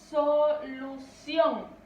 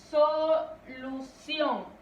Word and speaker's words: solución: Por ejemplo, tenemos la palabra solución. Repito, solución. Vemos que la mayor fuerza de voz o la sílaba tónica es sion.